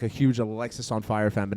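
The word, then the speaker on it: Alexisonfire: You're worried Walk that to the Alexis on Fire doesn't make sense, but it being one word is grammatically correct. No, I'm not saying it's grammatically correct, but if you pronounce it Alex is on fire, it's better than pronouncing it Alexis on Fire.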